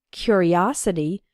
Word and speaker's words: curiosity: a curious boy and in the noun form curiosity the third syllable is strong us his curiosity got him into trouble